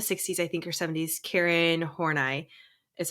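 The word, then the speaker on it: Karen Horney: she's from the 60s I think or 70s Karen horai is how you say her name um she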